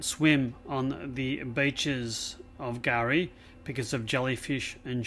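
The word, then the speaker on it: K'gari: is officially now called gari the ABD term for the island and the term means Paradise in the Aboriginal native language the K is silent gar is the world's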